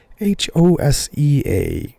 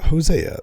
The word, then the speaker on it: Hosea: I believe I'm saying that right, but I'll spell it too. Hosea.